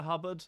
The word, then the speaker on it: Hubbard: She's only called Hubbard. I've never met anyone called Hubbard. I mean, that's only because it rhymes with cupboard, right?